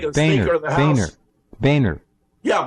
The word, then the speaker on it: Boehner: Boehner. Yeah, Boehner, right. We don't want to confuse people. It's not Bonner.